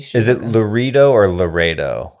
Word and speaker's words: Laredo: He's Is it Loro or Laredo? How is it spelled? L A R E D O Laredo.